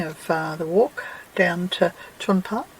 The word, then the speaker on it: Tjunpe: known as simpsons gap it doesn't um spell how you pronounce it i can never get my tongue around them but apparently chun pa is the correct pronunciation so this is i